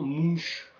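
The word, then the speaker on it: Munch: Mouk alors je précise je le prononce Monke c'est la prononciation scandinave mais en France on entend plus souvent mouche qui est la prononciation française en fait de son nom Édouard mouche c'est en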